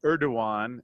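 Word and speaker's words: Erdoğan: on size of the global players but President Erdogan as my new Turkish friend Ali says is the correct way to pronounce his name certainly not happy with the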